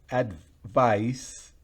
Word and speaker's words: advice: Pero si es advice, fíjense que en la primera al final es z, es Z, pero en la segunda advice es una S.